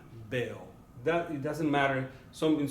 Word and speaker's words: veo: In español, this letter is pronounced as the B sound. See? So it's going to be more like ven, veo.